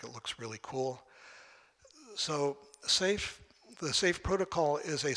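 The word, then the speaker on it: Seif: So toward that, I have a project I'd like to share with you called the SAFE project. SAFE rhymes with safe.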